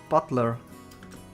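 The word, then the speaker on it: Battler: the characters for fight and person and it's pronounced Butler but put us all together and you've got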